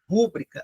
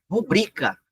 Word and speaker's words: rubrica: Páginas está correto, a palavra, ó, não é rúbrica, é rubrica. A palavra, a sílaba tônica é o bri, é rubrica.